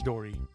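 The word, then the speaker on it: とり: japanese word for bird due to a phenomenon in japanese grammar known as rendaku tori may be pronounced in compound words as dory gyroid face glitch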